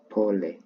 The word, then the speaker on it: pole: So, sorry in Swahili is pole. Okay? Pole. So, pronounce it as pole then the whole pronunciation pole.